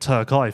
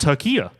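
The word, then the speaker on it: Türkiye: been beating the drum calling it turkey thinking I'm the most cultured person in the room and actually it's pronounced Tura so I've I've just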